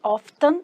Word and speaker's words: often: Often, que inclusive escreve often, mas fala often. Ele tem uma silent letter.